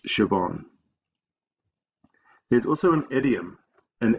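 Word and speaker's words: Siobhan: h n is quite unusual so sometimes students pronounce it asan but that's wrong it's shoban there's also an idiom an idiom is a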